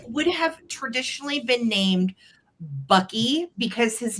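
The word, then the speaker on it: Boecky: hung right here, um would have said Bucky, but it's spelled b o e c k y.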